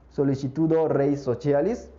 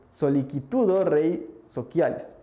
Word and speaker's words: Sollicitudo Rei Socialis: sobresaliente sería la de Sollicitudo Rei Socialis, que será la pronunciación eclesial del latín. Si lo quieren decir en un término más clásico, pues sería Sollicitudo Rei Socialis.